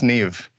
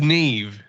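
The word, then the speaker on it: Niamh: all right so that's Nev that's Neve yeah uh MH is a v sound for some reason um imagine when you're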